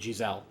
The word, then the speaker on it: Giselle: And then her last name is Zelle, so like it's actually supposed to be pronounced Marguerite Giselle. Okay. Which sounds about as French as you can get.